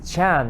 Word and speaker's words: Chan: philosophical point of view but then um the chan is how it's pronounced with the same letter sun in korea